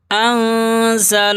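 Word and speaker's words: أَنزَلَ: अलिफ के बराबर अंजल नून साकिन यानी जिस नून के ऊपर जज़्म में हो और नून साकिन के बाद हुरूफ इफा के 15 हरफों में से कोई हर्फ आ जाए तो नून की आवाज को नाक में छुपाते हैं। जाहिर नहीं करते हैं। इसलिए अनज़ल नहीं पढ़ेंगे। यह गलत है। इफा करेंगे।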